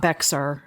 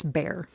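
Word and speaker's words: Bexar: And that is Bayer County. Even though it is not spelled like Bay County, if you hear anyone pronounce it any differently, they have no clue what they're talking about.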